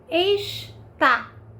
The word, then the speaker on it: está: tá na é verbo Então como existe essa diferença entre esta e está observa em a sílaba tônica esta primeira sílaba que é mais forte e está é a última sílaba mais forte Então esse a